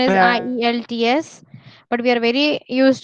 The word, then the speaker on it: IELTS: बोलो Ideally, it is IELTS.